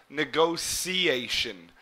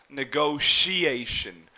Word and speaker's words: negotiation: I pronounce it negotiation, where this T here would almost be pronounced like an S or a C, negotiation. But you may also hear people pronounce it as negotiation, like an SH sound here.